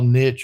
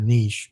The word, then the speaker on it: niche: if you want but they're either small Niche or Niche depending on wherever the hell you're from is how you say it but uh they're small